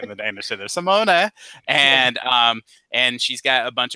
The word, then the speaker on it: Simone: So there's Simone.